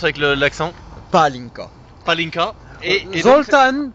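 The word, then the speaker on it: pálinka: Attends, Zoltan, il faudrait que tu prononces avec l'accent. Palinka.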